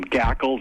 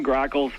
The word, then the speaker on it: grackles: then they complain, and they can't even pronounce their name right. That people call them gackles and gacklings, and even my own mother called them starlings for some reason. I don't understand, but those are common grackles.